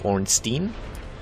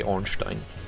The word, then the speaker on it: Ornstein: orang Steen but um I think these names are originally of Yiddish origin and thus are pronounced in a German fashion so you would actually say orstein or orstein I guess if you want to be a little more English about it but definitely not orang Steen that's just um I don't know it's the way Americans can work it can can pronounce it but it's not necessarily correct um you also get